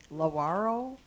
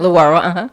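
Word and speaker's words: Lewaro: But I wondered, is Laro, is that how you pronounce it? Lwaro.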